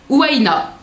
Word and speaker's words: Ouaina: Alors, la box Ouaina, il marque entre parenthèses comment on le prononce, donc Ouaina.